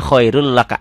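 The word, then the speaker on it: خَيْرٌ لَكَ: Ditulisnya khairun laka, dibacanya khairul laka, n-nya hilang.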